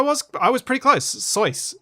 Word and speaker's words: Soyuz: i was pretty close soyuz uh which rhymes with voice yes i thought it